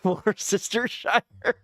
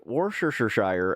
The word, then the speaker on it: Worcestershire: I was like, Worcestershire, and she's just like, no. And then I kept adding another. I remember the one time she's just like, "There's another. You added another syllable."